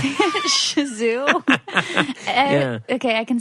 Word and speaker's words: Shih Tzu: Shih Tzu? Yeah. Okay, I can spell it, but I can't pronounce it.